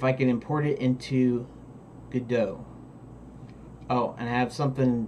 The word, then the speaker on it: Godot: philosophy behind it but considering that they pronounce it Godot there and considering God vidoes named Godot is probably a proper pronunciation but I started looking